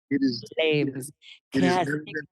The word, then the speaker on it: PFlames: I'm like, no, it's pronounced Flames because the P is still free, and you know, all